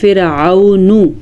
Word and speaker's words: فرعون: تک لمبا کریں گے۔ فرعون میں عین کے تلفظ کا دھیان رکھنا ہے، فرعون۔ ومن قبلہ، ومن، کسی